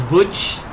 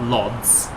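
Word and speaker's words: Łódź: to hear that one i think i know how to pronounce vuj and i know it's not lods that's enough for me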